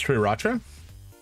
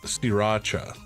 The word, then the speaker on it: Sriracha: Sriracha or Sriracha is what I'm seeing on Google. So that first R is a lie, apparently.